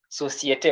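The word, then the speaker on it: société: Societe. Why societe? Because there is acute accent on the final letter A.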